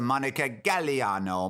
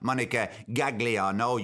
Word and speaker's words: Monica Gagliano: of the woman wrong in Italian the G is silent it's a Monica Galliano mud not Monica gagliano you desaad well then